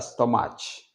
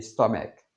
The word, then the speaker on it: stomach: stomach stomaqu stomaqu c'est c'est terminé par on ch mais on ne dit pas stomage ou est stomage on dit stomaque Stomaque.